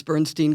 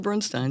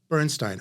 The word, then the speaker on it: Bernstein: is Bernstein I did most people think it's Bernstein cuz that's the American pronunciation right but my grandfather pronounced it Bernstein so there you go Bernstein okay and I'm going to um try to